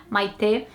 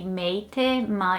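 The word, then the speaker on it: Maitê: say it out loud, Maite. It's all about the second syllable. But here in the UK, I think it would be Meite, Maite.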